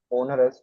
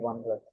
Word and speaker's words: onerous: The See, I usually contract pronounce this as onerous, but the actual pronunciation is onerous.